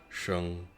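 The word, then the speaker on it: 生: An extreme example is the character pronounced sheng in Chinese. In Japanese, it has at least 8 readings: sei, sho, nama, ki, o, u, i, and ha.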